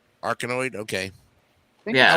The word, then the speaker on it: Arkanoid: It's pronounced Arkanoid. Arkanoid, okay.